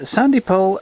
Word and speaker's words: Sandy Powell: This one is Sandy Powell at the North Pole. Yes, that's how you pronounce his name, viewers.